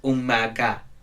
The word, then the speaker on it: Omaga: bit but you know it's spelled Omega or or Margo or whatever you pronounce it as but it's like where he pronounced it's Umaga okay whatever we listen